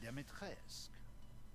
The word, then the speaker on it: Dimitrescu: The first you've already met, the Lady Demetresque. Oh, you don't pronounce the U then.